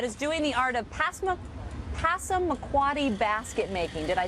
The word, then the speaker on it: Passamaquoddy: George Neptune, Molly Neptune Parker, they are a grandmother-grandson team that is doing the art of Passamaquoddy basket making.